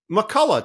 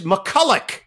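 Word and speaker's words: MacCulloch: McCullough's dad and iron he says you've been saying our name wrong the whole season I said what no I I say McCullough Todd McCully goes no no no he said it's McCulloch I said well sir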